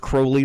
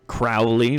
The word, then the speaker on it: Crowley: his name it's uh it's pronounced crowley like holy uh not crowley like i know meow